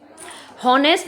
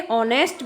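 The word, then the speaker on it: honest: अब यहाँ पर देखिए ह है, ठीक है, ऑनेस्ट, लेकिन इसका प्रोनाउंसिएशन क्या है, आ से शुरू हो रहा है, ऑनेस्ट। हॉनेस्ट नहीं बोलते हैं, इसे ऑनेस्ट बोलते हैं, ऑनेस्ट।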